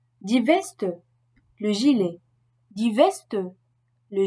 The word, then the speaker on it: Weste: En toute autre situation, SP et ST se prononcent comme un S français suivi d'un P ou d'un T, comme hospitalier. Die Weste, le gilet.